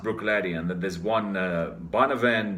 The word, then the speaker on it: Bruichladdich: So you have a word like Bruichladdich that's like 21 letters in it. This Bruccichlabd, whatever, triple D. But it is just pronounced Bruichladdich.